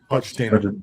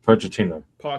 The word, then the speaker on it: Pochettino: Pettino. Pochettino.